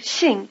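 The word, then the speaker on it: xing: Shing it might help Shing is halfway between the first syllables of the English word single and shingle if it sounds more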